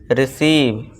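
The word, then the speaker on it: receive: रिसीव, रिसीव।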